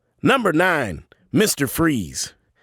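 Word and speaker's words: Fries: batman animated series now victor freeze pronounced freeze get it was painted as a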